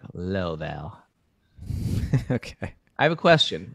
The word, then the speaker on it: Louisville: But I'm saying it wrong. It's not Louisville. It's like Laval.